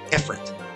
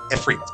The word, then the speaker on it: Ifrit: And that looks like Ifrit. So, for a long time, that was how English-speaking audiences pronounced that. It was Ifrit. That's not how it's pronounced. It comes from Arabic. And there, it is pronounced Ifrit.